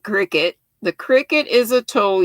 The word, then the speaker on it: Cricut: It looks like cricket, but I think you pronounce it Cricut.